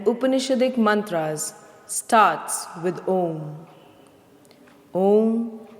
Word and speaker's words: Om: Om is a combination of A, U and Ma. Let us chant these three syllables one by one. Please observe that the sound comes from the throat.